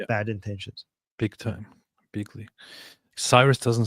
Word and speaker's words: Cyrus: Cyrus doesn't sound good. Cyrus sounds fake. I want to call him Kiros. How about that? Kurosh.